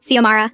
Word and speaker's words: Xiomara: My name is Xiomara," I said. "Not Zmara, not Xmara, not Zara. Xiomara."